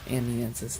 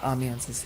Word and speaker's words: Amiensus: Well, that's going to conclude our album reaction to Reclamation by Amnianis. Not Amiances. Amnianis.